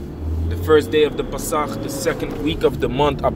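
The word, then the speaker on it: Pesach: Pronounced in Hebrew, in the ancient Hebrew, so to speak, the Pasach.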